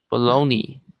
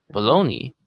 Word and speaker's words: bologna: bologna. Bologna? Uh-huh. Is that how it's spelled? Yeah. And I know it looks like it would be like Bologna or something, but it's actually pronounced bologna.